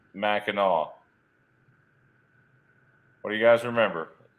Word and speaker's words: Mackinac: was pronounced Mackinaw but it has always been spelled Mackinac regardless of pronunciation so it is spelled Mackinac but they they pronounce it Mackinaw no I'm gonna show